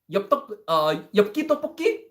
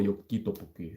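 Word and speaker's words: 엽기떡볶이: Oh, this is actually one of the hardest Korean words to pronounce for non-Korean people. Yopki tteokbokki. There's a lot of different back and forth sounds that do not exist in English.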